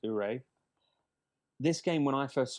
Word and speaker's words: Oure: Okay, next game, Ure, spelled Oure, pronounced Ure.